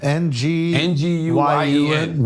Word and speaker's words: Nguyen: N G U Y E N Win is the closest.